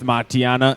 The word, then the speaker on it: Matianak: Yeah, it's Matianak. The K is silent.